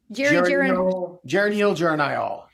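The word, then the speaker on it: geranylgeranyl: Geranyl, geranyl.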